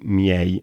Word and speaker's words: miei: il plurale maschile, quei miei amici. Basta ricordarsi di pronunciare le vocali una alla volta, miei, e poi accelerare pian piano e non si sbaglia.